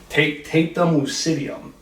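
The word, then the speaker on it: tapetum lucidum: I'll have to look at my notes here to pronounce it correctly. Tapetum lucidium is the technical term for it.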